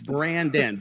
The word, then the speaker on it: Branden: I've got Brendan. I've got Brian. I've got Braxton. I've been called all kind. It's Brandon. B R A N D N. I don't spell it the traditional D O N.